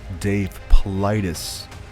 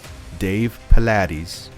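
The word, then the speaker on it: Paulides: of people that mispronounce Dave politis Dave politis it's not Dave Pilates or Dave pillodus it's Dave politis he's got his own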